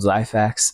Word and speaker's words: Xyphax: You had this world Zyfax in it. Zyfax, am I pronouncing it right? XYPHAX. Okay. Yeah. So I was thinking with a Z, but it's two X's, huh?